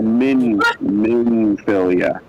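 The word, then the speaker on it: Minfilia: A minphilia, Kevin.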